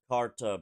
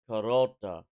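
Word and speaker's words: Kar'ta: I found out it's not pronounced Karta Beskar. It's Karota Beskar. The R apostrophe T apparently has a rota pronunciation to it. Well, the Beitan is supposed to be a breath, so it's like car, a breath, and then ta.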